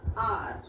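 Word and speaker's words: hour: is verbal sound okay the second word is h o u r and pronounce the word as r okay so h vector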